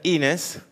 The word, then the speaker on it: Inés: nest mis amigas oficinas me dicen que se pronuncia inés que es una política